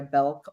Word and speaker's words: Belk: Uh you can find me on LinkedIn uh by my name, Belulk.